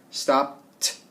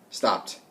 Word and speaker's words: stopped: Okay, so if it ends in an unvoiced letter, then we're going to add the T sound at the end. So let's talk about the word stop. Stop ends in P. It's unvoiced, so we do a T sound at the end. Stopped, stopped, stopped.